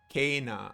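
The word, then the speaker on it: Kena: Kana. Oh, it's pronounced like Kana. Kana. Spelled Kenna, pronounced Kana.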